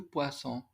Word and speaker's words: poisson: Et surtout, du poisson. Aquí tenemos doble S, esa se pronuncia como una S.